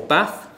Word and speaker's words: bath: that bath valve so whether bath is pronounced bath how I say it or bath and this is Eddy this